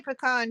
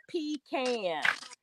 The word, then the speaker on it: pecan: And I say pecan too, so that's why I sent you the meme, because we say it right. Sierra says it wrong. Sierra says pecan.